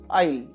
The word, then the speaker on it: aisle: S is silent here, aisle.